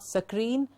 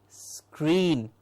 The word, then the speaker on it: screen: screen screen exactly now that is not sakreen but just say green and a small s before it to give us screen absolutely scream scrape not